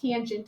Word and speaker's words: tangent: just do t a n you don't see tan of a still pronounced tangent of a it's like one of my pet